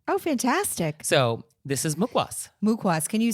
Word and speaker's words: mukhwas: a restaurant thing oh fantastic so this is mukas mukas can you spell mukas for us well it's Hindi but it is spelled on this little packet m u k